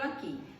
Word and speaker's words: aqui: Aí tem um exemplo aqui. Por exemplo, a palavra guerra. Guerra. Foi pronunciado o U do guerra?